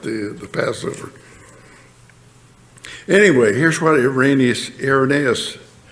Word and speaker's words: Irenaeus: Anyway, here's what Irenaeus, I used to call Irenaeus Irenaeus, and some people do, but I hear scholars say Irenaeus is the proper pronunciation.